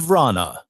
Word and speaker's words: Vrana: Jacob Vrana. I don't hear the A first. I hear it after.